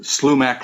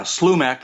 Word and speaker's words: Slumach: uh Slumac lost mine uh or gold mine or something like that uh group that was put together.